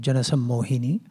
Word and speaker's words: Jana Sammohini: It's a tongue twister for many, but Jana Sammohini, easy for us, but it's not that easy to pronounce.